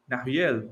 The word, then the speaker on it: Nahuel: Nahuel, like Manuel?